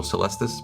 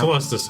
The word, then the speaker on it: Caelestis: I think we say the A is silent, so Caelestis, perhaps? Caelestis, I think is probably Yeah.